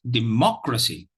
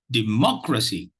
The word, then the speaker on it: democracy: It's democracy. Democracy. Democracy. Democracy. So you realize that there is only one stress syllable, and that is the 2nd syllable, because the other 2